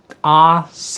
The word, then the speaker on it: ARCE: I'll pronounce it in the Spanish way instead of the English way. There's a bit of controversial here why we choose the name. It is ARCE.